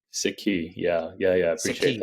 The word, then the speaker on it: Sikhi: believe in the book correct me if I pronounce this wrong uh it's c key or sikki sikki yeah yeah yeah I appreciate that yeah so